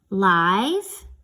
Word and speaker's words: live: So it can be said you can pronounce this word as live, like I would like some live bait to go fish with, where the I says its name. Or it can be pronounced as live, where the I is short, like they live in the brick house.